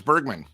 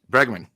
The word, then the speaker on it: Bregman: Alex Bergman, I think, is better. Bregman.